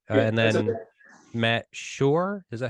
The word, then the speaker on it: Schor: Matt Schor. Is that how you pronounce that?